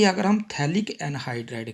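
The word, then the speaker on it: phthalic: यहाँ पर होगी, और इसको हम बोलते हैं थैलिक एसिड। PH साइलेंट होता है, थैलिक एसिड, ये थैलिक एसिड की फॉर्मेशन होगी।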